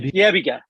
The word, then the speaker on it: Yebiga: Yebiga.